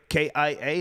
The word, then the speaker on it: Kia: K-I-A, is that how you Is that pronounce a it?